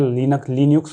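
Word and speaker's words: Linux: उसके बाद यूनिक्स आता है और इसे लाइनक्स आता है, कुछ जन इसे प्रोनाउंस करते हैं लिनक्स भी बोलते हैं, लाइनक्स भी बोलते हैं, तो लाइनक्स है ये, ठीक है।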